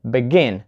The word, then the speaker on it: begin: have such verbs as begin so listen begin not begin so we put the stress on the second syllable begin and decide not